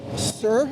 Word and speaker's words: Sœur: of finally meeting the trio sir am i pronouncing correctly is correct okay as we already agreed the French would not agree with that but so we're trying